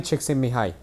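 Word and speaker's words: Csikszentmihalyi: there we go yeah that's literally how you say it too they have like the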